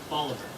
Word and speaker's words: Bolivar: Oh, and the pronunciation committee wants to gently remind you it's Madina, Medina, roughly Bolivar. Boliviver and Lichfield.